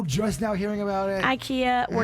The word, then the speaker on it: IKEA: the people that says ikea when you're talking about the swedish furniture store that's apparently not how it's said how's it said ikea the i sounds like an e spell it e k